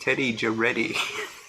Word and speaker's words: Teddy Jack Eddy: Ron says one of Gary Busey's characters was the cool guy like a 70s Fonz by the name of Teddy Jack Eddy, pronounced Teddy Jaretti.